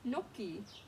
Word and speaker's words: gnocchi: Ooh, lots of silent G, huh? Look, silent G, gnome, silent G, gnat, silent G, gnocchi.